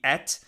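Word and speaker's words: את: That word in between, es, The Israeli pronunciation of that would be et.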